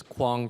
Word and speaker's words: Quang: um my name is Quang I'm the CEO and co-founder of urban form I sometimes say that my name rhymes with King Kong so that's easy to